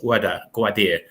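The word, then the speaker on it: Gwadar: The most important thing is, can China, because China wants to link up to the port, I think it's pronounced Gwadir, in Pakistan.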